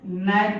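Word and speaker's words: knight: पढ़ते है कनानाइट तो कनाट नहीं पढ़ेंगे इसे नाइट पढ़ेंगे क्या पढ़ेंगे नाइट समझ में आ रहा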